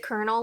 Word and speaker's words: Colonel: Is it Colonel, like an R, not an L?